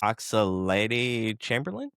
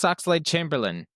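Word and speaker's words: Oxlade-Chamberlain: Good for And you might have to help me with the pronunc pronunciation of this last name. Alex Oxalady Chamberlain. Alex Oxel Chamberlain.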